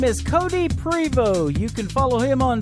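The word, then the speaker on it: Prevost: a great Canadian artist his name is Cody Prevot you can follow him on twitter at cody Prevot music that is t re vos T and the T is silent mr. Cody Prevot and he is from Canada and you can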